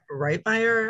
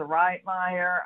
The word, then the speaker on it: Wrightmeier: pleasure of hearing from wrightbeyer i apologize for mispronouncing that that's totally okay i get that all the time um hello everyone my name is dr wrightmeier i'm at the university